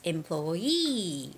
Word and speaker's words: employee: word employee you know whenever there are two e connected together that's where the stress goes it's employee interviewee retire okay so employee ID